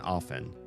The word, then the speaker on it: often: Soft and soften. It's a rule. It's an English rule. And yet, I hear plenty of people say often because that's how it looks like it should be pronounced. And they don't think about those obscure, ugly, stupid, have to memorize rules. I don't either, but once I learned this one, I couldn't unlearn it. So I do I like pronouncing often often when there's a silent T?